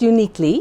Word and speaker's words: Youniquely: No, just Uniquely. Uniquely. And it's spelled Youniquely.